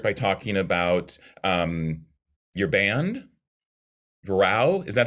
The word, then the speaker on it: Vrau: Yes, similarly to that, it's a Dutch word. Okay. So I'm also not 100% sure how to pronounce it. It's similar to the German Frau. Okay. But Dutch pronounces that beginning sound somehow between V and F.